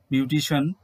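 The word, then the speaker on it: beautician: তো শিয়ান নয়, উচ্চারণটি হচ্ছে শন, বিউটিশিয়ান, ফিজিশিয়ান।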